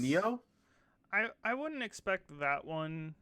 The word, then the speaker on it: Nioh: Is it Neo? NIOH? Is that how you pronounce Yeah, it? Neo. Yeah. Yep. Neo.